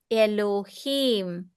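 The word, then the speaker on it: אֱלֹהִים: So before uh after the lamemed above lamemed there is a dot there should be a dot. So we will pronounce it as low. Elohim.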